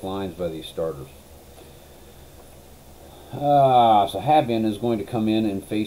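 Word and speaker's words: Habyan: They're going to go to Steve Farr, John Habian. I don't care how you pronounce it. It's spelled H-A-B, you can't see it, Y-A-N, Habian. That's what I'm going to call him, John Habian.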